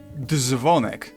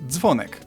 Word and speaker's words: dzwonek: It's not dzwonek, but dzwonek.